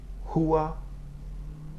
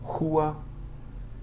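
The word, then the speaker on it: rua: At the beginning of a word or at the beginning of a syllable after another consonant, R is pronounced similar to the H sound in English. Okay, so listen to the examples. Hua, hiu.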